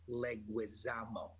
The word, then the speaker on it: Leguizamo: watching from outer space somewhere and it's still pronounced leguizamo thank you very much we don't talk about